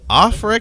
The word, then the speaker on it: Aufrecht: Mercedes AMG stands for pronounced Mercedes offre melshire and grossa Spa AMG was founded in